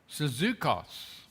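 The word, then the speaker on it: σύζυγος: And Paul uses a Greek word Syzukos. Sounds like the word Suzuki, doesn't it? But it's not. It's Syzu- Syzukos.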